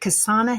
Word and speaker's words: Kasana: Currently, he's working with innovative organizations like Hands-On L&D and is it Kasana Health? Is that how you say it? Yes.